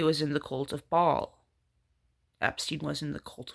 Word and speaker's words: Baal: Baal. That's how I pronounced it. Baal or Baal. The cult of Baal, the cult of Baal. Bael or Baal.